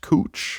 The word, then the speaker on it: Couch: Like, was anyone like, just so you know, the street that's spelled like couch, it's actually pronounced cooch.